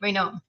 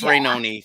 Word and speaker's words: Rainone: And I get your name right, even though all my relatives say Rainone. It's spelled, yeah, I answer to both. It's good, but it's Rainone for the record.